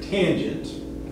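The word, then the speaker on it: tanh: cosh hyperbolic cosine and fyi that's usually pronounced tange again i don't know why they added extra c or some extra stuff in there but i guess just to delineate it from regular tangent um but in pinch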